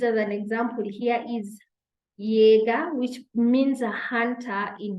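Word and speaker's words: Jäger: it is yacht and just like its name suggests it is pronounced as yeah the way you would pronounce letter Y okay in a word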